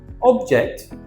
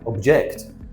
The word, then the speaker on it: object: Object and object. It's a different pronunciation. An object is a thing. Anything is an object. A pen, a pencil, a camera, a microphone, an object. To object is to disagree with someone.